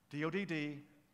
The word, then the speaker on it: Dodd: see hrp 1p Dodd rhymes with odd if you take a d out okay odd Dodd then I want you